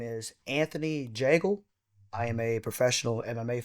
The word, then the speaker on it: Jagel: And my nickname is the Bagel because it rhymes with my last name Jagel.